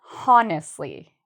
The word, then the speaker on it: honest: of people say is honestly. They have that H sound, but you do not need an H sound when you say the word honest. The H is silent. We do not say the H.